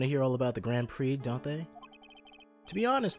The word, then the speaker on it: Grand Prix: never understood that word it's pronounced grand prix but it has x in it so you want to say like graham pricks or shish or whatever